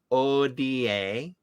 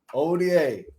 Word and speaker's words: Hodie: It's spelled Hodie, but it's pronounced Odie. Odie.